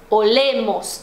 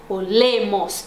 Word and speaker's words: olemos: Mas, por exemplo, nosotros olemos, então não é no o que tá a sílaba tônica, é no le, olemos.